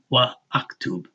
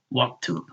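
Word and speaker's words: واكتب: But you don't have to say wa aktub. That fatah carries straight over this aleph to the kaf that has a sukoon, and you say waktub.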